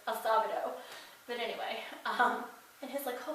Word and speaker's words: Acevedo: For a long time I said that this one actor's name, Kirk Acevedo, but I'm pretty sure it's Acevedo.